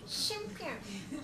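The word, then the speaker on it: 香片: 漢字でお香の香、片道の肩と書きまして、シュンピュンと発音するそうです。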